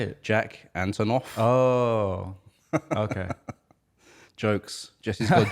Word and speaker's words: Jack Antonoff: name real fast how do you say it Jack Antonoff oh okay jokes Jessie's good jokes already guitar